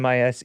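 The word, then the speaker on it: Mises Institute: sent me this article mis's Institute is that how you pronounce it mes yes Institute Australian economics Freedom andace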